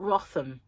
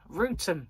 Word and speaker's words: Wrotham: Wrotham is not Rotham, it's Rootham.